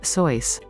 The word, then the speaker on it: Seuss: who wrote children's books its pronunciation sounded similar to that of mother goose five the butter battle